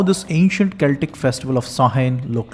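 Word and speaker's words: Samhain: is called as sahen despite this spelling sounding samen actually pronounced sahen so what is sahen sahen marked the end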